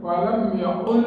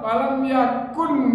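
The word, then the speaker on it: ولم يكن: Qul huwallahu Allah lam yalid wa lam yaqul lahu kufuwan. Padahal walam yakun itu pakai kaf.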